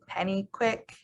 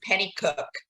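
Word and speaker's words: Pennycuick: retired um and tracy penny quick is running just just everybody knows it's penny cook it's spelled like quick but it's cooked nobody gets it right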